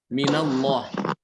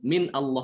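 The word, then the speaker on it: من الله: ya contohnya di sini minallah Min aslinya adalah Min dengan Allah ya tapi tidak mungkin dibaca seperti itu Min Allah ndak ya orang-orang bacanya minallah ya jadi diberi yang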